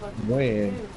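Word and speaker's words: Nguyen: It's Win. It's pronounced Win. Oh, I'm like, nigga, that's... Yeah, I'm like, nigga, that's Nagayan. Don't lie to me. Wait, what guy? Wait, W-Y-D-N? No, it's N-G-U-Y-E-N. It's called Win.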